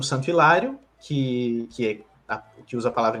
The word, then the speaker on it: Hilário: acontecem na Fala então o fato de ter um h no nome Hilário não muda o fenômeno porque a gente não pronuncia esse Hilário é uma palavra que a gente pronuncia com i no início por motivos históricos